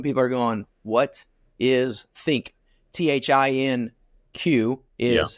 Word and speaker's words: Thinq: I introduced you as the next gen director for Think. Some people are going, what is Think? THINQ Yeah. is how it's spelled.